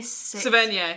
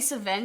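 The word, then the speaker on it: Sevigny: we're talking about zodiac do you know how to say her name chloe savage it's chloe savin yeah and that movie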